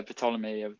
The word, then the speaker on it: Ptolemy: Oh wait, so are you saying that Ptolemy? Is that how you pronounce him in English, Ptolemy? That. Yeah, Ptolemy.